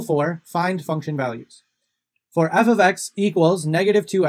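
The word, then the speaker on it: f(x): of writing an equation so that y equals f of x and this part here just means function and it's pronounced f of x so if you see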